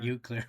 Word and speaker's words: Eau Claire: I've got up, is this pronounced Eau Claire? It's you, Claire. Eau Claire, Wisconsin.